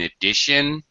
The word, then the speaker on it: addition: I love that you connected your ideas by saying in addition. Okay. Just make sure the T in addition is an SH sound.